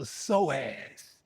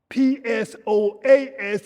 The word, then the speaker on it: psoas: And there's a deep inner muscle in there called the psoas. p s o a s and we release the psoas muscle.